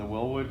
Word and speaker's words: Wilwood: numbers down below for the Wilwood components or Wildwood however you want to say it right people say it differently and then I'll show